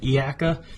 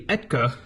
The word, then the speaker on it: ETKA: I said Iaka. It's actually Etka.